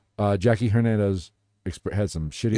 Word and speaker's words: Hernandez: Jackie Hernandez had some shitty It's Hernandez. You white. mispronounce it. It's Hernandez. I don't speak Latino.